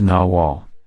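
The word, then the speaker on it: nahual: the noal or Nagal both are pronounced naal even though Mexico was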